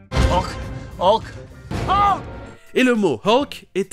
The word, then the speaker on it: Hulk: Ok, passons à Hulk, ou comme c'est prononcé en anglais, Hulk, avec le H aspiré et le son E que l'on peut trouver par exemple 2 fois dans Shut Up. Hulk. Hulk.